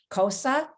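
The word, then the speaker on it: Xhosa: zulu and cosa cultures so you heard me pronounce cosa with a click as i said the word so the x is said with a k sound along with the click at the side of your cheek i didn't say it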